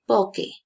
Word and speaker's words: poche: Pero significa, pronuncio poche, ¿sí?